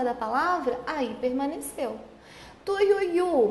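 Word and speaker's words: Tuiuiú: Tuiuiu, mesma coisa. Tui, ui, u. Tem um ditongo aqui, ui, e o u tá sozinho, mas por estar na última sílaba, continuou.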